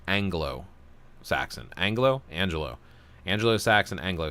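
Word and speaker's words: Anglo-Saxon: corrected me on it I used to say Angelo Saxon instead of Anglo Saxon Anglo Angelo Angelo Saxon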